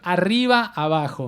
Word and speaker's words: Arriba Abajo: You can pronounce it correctly for us. It's pretty good. Arriba Abajo.